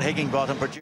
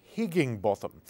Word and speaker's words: Higginbotham: Scott Higginbotham. That's right, Scott Higginbotham. If you say it the way the Aussies do, you sound like a yob dropping his G's.